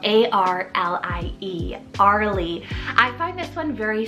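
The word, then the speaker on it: Arlie: gender neutral option here is arly spell a-r-l-i-e Arley I find this one very soft and almost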